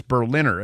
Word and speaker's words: Berliner: People keep pronouncing his name in 9 different ways, Berliner. It's Berliner. It couldn't be more obvious.